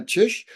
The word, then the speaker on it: Czyz: today on Calgary's podcast joining me is Magdalena chish who is a certified health coach and a